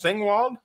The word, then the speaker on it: Singewald: Her name is Maja, and I believe the last name is pronounced Singewald? Yeah, exactly. Yeah.